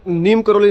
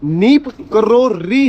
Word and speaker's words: नीब करोरी: भी नहीं पता था मैं भी नीम करोली नीम करोली कहता था जो नीम नीम का पत्ता होता है नीम करोली लेकिन नीमप करोरी है स्पेलिंग में थोड़ा सा चेंज है ये चीज मुझे पहले